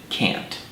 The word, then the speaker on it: can't: like to mention that speakers of British English normally pronounce this word as K whereas in America we pronounce it can't and now for an